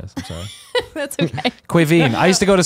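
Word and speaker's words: Caoimhín: Kevin, you know what your name is in Irish? Quiveen.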